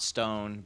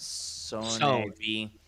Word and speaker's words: Sone: Not Stone, but Sone.